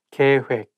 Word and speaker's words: 계획: 계획, plan. 계획, plan. I think when it has double vowel like OE of 획, it's not hek, it has to be 획.